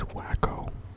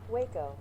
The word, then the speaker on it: Waco: Created by Charles Alderton in what is this wacko? Is this some town in Texas? Sorry if I mispronounced that.